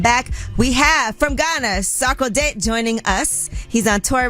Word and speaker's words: Sarkodie: Sarkodie. Yes. Sarkodie.